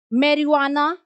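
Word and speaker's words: marijuana: Stationery मेरुआना। ठीक है? जे उसमें साइलेंट होता है।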